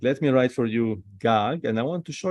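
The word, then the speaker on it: גג: another Gmail another gag so if we put another commits up it's we say gaga gaga so pronunciation is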